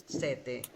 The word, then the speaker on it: sete: সেতে, Mm. দেখেন প্রথম উচ্চারণ ভুল বলছিলেন, পরে ঠিক বলছেন।